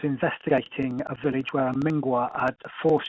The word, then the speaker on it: Mngwa: Anyway, Richard, before anything else goes wrong, tell me about how do you pronounce it? Mngwa?